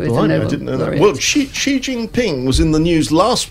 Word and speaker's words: Xi Jinping: Is that how you pronounce Xi Jinping? I've got no idea, but I thought it sounded a bit right. That's a very good pronunciation. Xi Jinping.